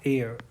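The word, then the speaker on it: heir: जवाब आया उसने कहा एयर क्या है ह की आवाज़ बिल्कुल भी नहीं निकलेगी क्या हो जाएगा साइलेंट सन हो गया भैया ये जैसे तुम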